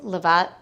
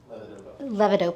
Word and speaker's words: levodopa: Um there are medications like I'm going to mispronounce this, levat? Levodopa.